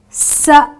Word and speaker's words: said: EA are for example I haven't a I but yet I pronounced the word using the E the short e vowel sound so I say SED so it's not it's not s the spelling is s a i d so ordinarily it would be pronounced as s but I say I said I said to her I said the e sound another exception says I